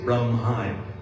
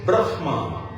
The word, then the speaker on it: Brahma: The word Brahma, we don't say Brahma. Correct pronunciation in Sanskritam is Brahma.